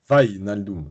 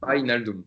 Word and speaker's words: Wijnaldum: C'est Van Naldum, c'est ça on prononce Wijnaldum. Wijnaldum. Voilà, Wijnaldum.